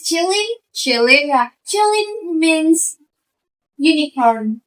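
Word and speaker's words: 麒麟: because in China, Qilin, actually how to pronounce it is Qilin.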